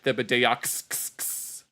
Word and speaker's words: Thibodeaux: allows some guy named Rad Thibodeaux, that's supposed to be pronounced Thibodeau, to throw a house party without Boomhauer's permission.